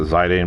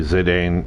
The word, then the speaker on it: Zidane: The main protagonist's name is, I'd pronounce it Zidane, but it could be Zidane. It just depends on how you want to go about it.